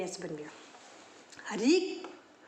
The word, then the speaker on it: ऋ: ऋ की मात्रा का उच्चारण भी र की तरह होता है।